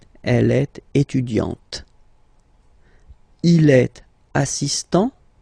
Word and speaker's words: assistant: Il est assistant. So don't pronounce the final t here. But for the feminine form, elle est assistante.